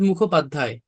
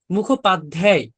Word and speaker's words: মুখোপাধ্যায়: এই যে মুখোপাধ্যায়, এখানে তো উচ্চারণের সময় দ আসতেছে উচ্চারণের টাইমে, কিন্তু আমরা কি করতেছি, দ এর কোনো ছিটা ফোটাই আনতেছি না।